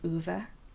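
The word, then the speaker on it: Ove: Um, it's a fiction book called A Man called Uva. Um, it's Swedish. Originally, is spelled UVA.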